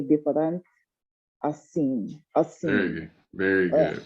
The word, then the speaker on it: diferente: Diferente. Diferente. Não é diferente assim. And even this I, so the I in Portuguese it sounds like an E.